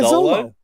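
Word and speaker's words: Xolo: to pronounce it because it's like an X or a Z sound. Yeah, Zolo. Yeah, like YOLO, but with an X.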